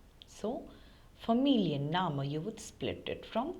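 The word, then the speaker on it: Familienname: surname is Mu now whenever you come across long words in German since there are many always split them then you would get the correct pronunciation for example here familian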